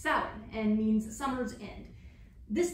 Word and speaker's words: Samhain: They celebrated their new year on November 1st in a celebration called Samhain. No, not that one. This one, which is actually pronounced Samhain and means summer's end.